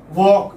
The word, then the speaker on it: walk: silent existence honest honest example now here it is silent and one or two words walk okay walk notice I did hear Ellis Island